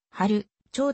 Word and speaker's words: 春蝶: の大と異なり春蝶ではなく春ちょうと読む 1921 年 6 月